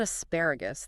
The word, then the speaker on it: asparagus: Asparagus just needs careful vowel management. The stress is squarely on the second syllable as pais. The key is to avoid squashing those last few syllables together. You need to clearly articulate the G sound before the final ooze.